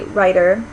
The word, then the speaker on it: writer: We don't actually say them with a T. If you listen to them carefully, writer, it may sound like we're pronouncing them with a D, but it's actually not a full D sound either. Your tongue, when you say those words, is just sort of glancing off the roof of your mouth. It's not really making a full stop consonant.